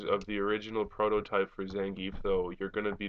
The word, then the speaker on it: Zangief: I call him Zangief. Some people pronounce it Zangief. That's probably right, but that's not the way I say it, so I'll stick with Zangief.